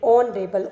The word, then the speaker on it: honorable: Okay, and similarly h is silent here, and we are pronunciating it honorable.